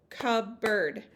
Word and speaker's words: cupboard: public has two syllables my example cupboard cup bird has two syllables over on the side